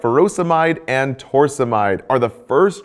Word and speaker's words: furosemide: Potassium wasting ends in ide, like furosemide or hydrochlorothiazide. Both rhyme with dried.